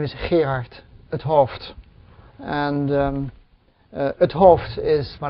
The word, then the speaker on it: 't Hooft: So my name is Gerard het Hooft, and het Hooft is my last name, which the apostrophe T stands for het, H-E-T, which is in spoken language often abbreviated into het.